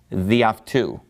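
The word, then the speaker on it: δι' αὐτοῦ: So the reason that it has that apostrophe and why it has lost an alpha is that it gets run together with the following word. So it's just pronounced διαυτού, meaning by him.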